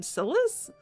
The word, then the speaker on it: Silas: I called him Silas, but it's pronounced Silas.